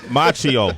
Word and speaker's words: Macchio: Ralph Macchio is here am I saying that correctly no but I like how you put the in fact you put the emphasis on their own solo Macchio there you go there you go I'm